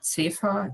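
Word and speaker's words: ZEvA: all it is a z-e-v-a safar as we would pronounce it in german um so this is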